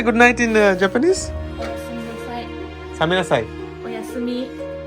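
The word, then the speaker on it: おやすみ: Oyasumi. It's like bye bye. Just good night. Oyasumi.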